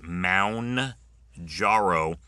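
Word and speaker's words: Mounjaro: Apparently that is the most mispronounced thing of the year. It is Mound Jarro number one for your end of the year most misprononunciations.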